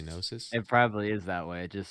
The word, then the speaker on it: gnosis: Like in gnosis, you don't say I gnosis, agree. you say gnosis.